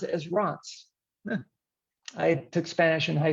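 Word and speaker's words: Reims: the city of france is number one they pronounce it as rots i took spanish in high school i don't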